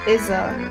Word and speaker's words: Issa: issa yeah um but her now hers is pronounced iza and she's italian spaghetti yeah but now